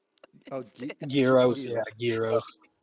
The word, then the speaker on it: gyros: I think of the gyros? Oh, instead. Euros, yeah, euros. Because in actual pronunciation, you don't pronounce the G, so it is euro.